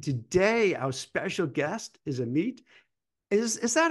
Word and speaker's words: Amit: ambition podcast and today our special guest is a meet is is that how you pronounce a meet or what's what's the right way of saying your name just so everyone meat yeah perfect can you share a little bit